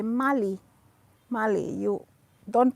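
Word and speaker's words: Bruno Magli: i you don't say mugly you say mali mali you don't pronounce the g mali bruno mali you don't say bruno magle bruno mali oh this one this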